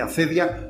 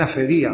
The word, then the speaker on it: acedia: Esta palabra a veces se dice acedia o también acedía. Bueno, hay 2 maneras de pronunciarla, ¿eh?